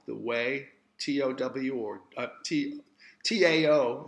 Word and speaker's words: Tao: the followers of the Tao, the way, T-O-W or T-A-O, it's pronounced as if it's D-O-W, like the Dow Jones, but it's spelled T-A-O